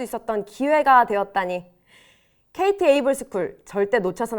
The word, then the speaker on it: AIVLE: KT 에이블스쿨의 주인공은 바로 당신입니다. 지금 바로 지원하세요. AIVLE 어떻게 읽어요? 라이브 아이블레 AI블이? 에이블스쿨. I는 묵음이에요. AI, 비전, 에이블.